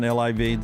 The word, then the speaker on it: LIV: Is that how you say it, Brown? LIV? The LIV tournament? Yeah.